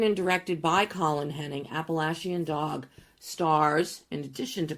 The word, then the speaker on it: Appalachian: As I said, written and directed by Colin Henning, Appalachian Dog stars, in addition to Colin, Georgia Morgan, Haley Hart Franklin, Brooke Elizabeth, and Aaron J. Stewart. It was shot on location in the Appalachian Mountains in North Carolina.